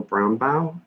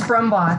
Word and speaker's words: Brumbaugh: next i had brownbau i'm pronouncing your last name right my apologies if i'm not that's okay it's brumbaugh thank you uh that's